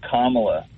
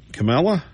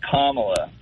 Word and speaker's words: Kamala: Yeah, can't you pronounce her name correctly? It's Kamala. Kamala? No, it's Kamala. Kamala?